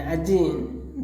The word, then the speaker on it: один: In один, the stress is on E and the unstressed word pronounced as A.